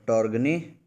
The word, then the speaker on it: Torgny: SIWI के हमारे कार्यकारी निदेशक हैं टॉर्गी, स्पेलिंग नोट कर लेंगे, TORGNY, टॉर्गनी, लास्ट में वाई है, टॉर्गनी होल्मग्रेन, HOLMGREN, होल्मग्रेन।